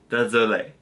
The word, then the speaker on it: désolé: So it's désolé.